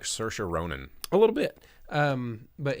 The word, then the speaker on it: Saoirse: Why does she look like Saoirse Ronan? A little bit. But Hey, did you see what it did there?